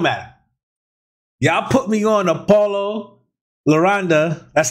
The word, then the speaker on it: Paulo Londra: listen it don't matter y'all put me on apollo laronda that's how you say his name um y'all